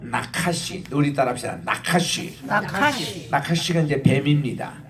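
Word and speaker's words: נחש: 나카시가 이제 뱀입니다. 이 뱀이고 나카시라고 카가 이게 강한 H 발음이에요.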